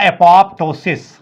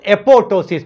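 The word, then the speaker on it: apoptosis: Is known as द एपोप्टोसिस, एपोप्टोसिस, that is known as the Rejish, हम लोग कहते हैं इसको रेजिश, रेजिश। तो या तो एपोप्टोसिस होती है, some people pronounce is एपोटोसिस, पी इज the silent.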